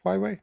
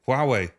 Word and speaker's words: Huawei: now we see with I never know how to pronounce it highway is it huwe Huawei okay so now with huway what